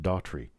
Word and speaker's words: Daughtrey: who Chris Daughtry is Chris Daughtry and I share the same pronunciation of our last name although not the same